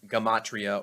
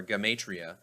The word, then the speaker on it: gematria: majority of americans is gematria often pronounced gamatria or gamatria which is the very